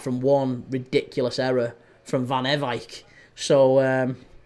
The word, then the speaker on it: Van Ewijk: Van Ewijk. That's how that one's pronounced. It's the first time I've heard anyone say his name. I've called him Van Ewijk and Van Ewijk. His name's Van Ewijk.